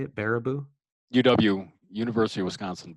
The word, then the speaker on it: Baraboo: Baraboo? UW, University of Wisconsin, Baraboo County. So Baraboo.